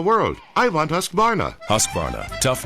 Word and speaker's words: Husqvarna: now how to say husqvarna you say husk like corn and varn like varnish without the ish and nah